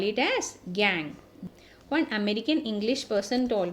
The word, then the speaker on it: gangue: And the impurity associated with the mineral, we call it as gangue. One American English person told me, ma'am, it should be pronounced as gonch like that.